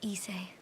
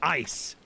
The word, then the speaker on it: Issei: Please, Issei. It's pronounced ice.